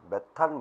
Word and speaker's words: 메테인: 이게 바로 메테인과 산소입니다 조금 옛날에는 매탄 매탄 그랬죠 메탄 영어식 발음으로 바뀌었습니다 메테인으로 그래서 물과 이산화탄소를 만듭니다